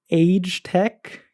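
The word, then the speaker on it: Agetec: Same thing with Age Tech, as I am now informed it is pronounced.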